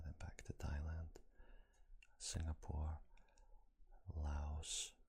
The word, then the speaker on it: Laos: Actually, it would be Australia, then back to Thailand, Singapore, Laos, which is pronounced Lao.